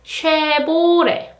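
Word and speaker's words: 쉐보레: in English but in Korean language it is share border share border top son share border share bought it share it share it and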